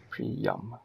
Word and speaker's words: Priam: How'd you spell the pronunciation? Pre-Prey-Yum. Pre dash what? Yum. Pre-yum. Yeah, that'll work. I could probably get rid of the Y and do Priam.